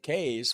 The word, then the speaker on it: Kees: But so Jan and Kees, which is Kees, because two E's makes the A sound in Dutch.